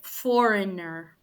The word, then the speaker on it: foreigner: have been spelled um the g is silent and the E and the I it's a very quick Foreigner Foreigner it's almost like just a direct e not an I by E I mean e and not the i e okay in Spanish so Foreigner that's how you would pronounce that yeah I I think